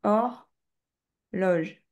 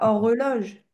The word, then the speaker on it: horloge: pas de e, c'est hor loge. Tu sais quand tu le prononces, tu dis horloge, tu dis pas hor reloge.